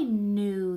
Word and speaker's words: knew: different kind of new this is the kind with the sneaky silent K like I knew that answer so we're